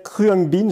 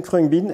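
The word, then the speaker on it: Khruangbin: musque ça tombe bien et ce groupe s'appelle crang bean j'ai mal le prononcer k h r u a N G B i n CR bean et c'est un mélange d'influence incroyable et un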